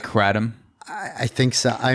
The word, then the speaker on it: kratom: on me i mean you got two syllables the the second syllable is definitely tom you know adam so i i have a problem with pronouncing the first syllable as cray because it's k k r a um i mean honestly